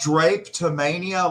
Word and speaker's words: drapetomania: It's spelled drapetomania like a window drape. DRAPE. And drape. Drapetomania.